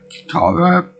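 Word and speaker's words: Katara: in the Iceberg, and it starts out with Kitara, which is the show's pronunciation. So I'm gonna go with that, as well as the pronunciation for all the other things in the show.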